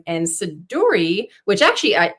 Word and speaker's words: Siduri: my middle name and sedur which actually I I've heard it's pronounced shidori is a character from